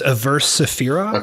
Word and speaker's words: Averse Sefira: It's Averse Sefira. Okay. They're like a weird kind of like dissonant technical black metal band. When I think of that description, I think of Deathspell Omega. Yeah. Like Averse Sefira is a little less heavy and a little